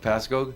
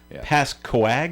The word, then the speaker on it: Pascoag: Pascoag, you know that's what they're calling it. Some people say it Pasco without the uh without the G. And that's a mistake.